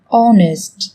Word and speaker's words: honest: Trong tiếng Anh cũng có một số từ mà cách viết chúng ta thấy xuất hiện chữ cái h, nhưng khi phát âm thì chúng ta lại không cần phải phát âm âm này, người ta còn gọi là âm h câm.